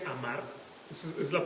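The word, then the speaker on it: אמר: amar amar en hebreo o sea así se pronuncia amar es es la pronunciación de la palabra es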